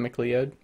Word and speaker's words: MacLeod: So I always pronounced his name wrong. Kevin MacLeod. Yep. I did 'Cause too. It wasn't until my wife started watching an Australian TV show on Netflix called McLeod's Daughters, and it's spelt the same way. I was just like, "That's how it's said."